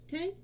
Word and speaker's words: Ki: Now, Ki, I will be pronouncing as chi. If you say it as kai, that's fine too, or ki, or whatever you want to use.